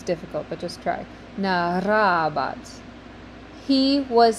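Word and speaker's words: narrabat: And try to roll your R with that. I know it's difficult, but just try. Narabat.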